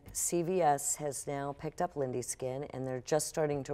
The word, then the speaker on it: Lindy: with Lindy skin which even though your name is spelled with a y l i n d y you call it Lindy skin with an i that's right and the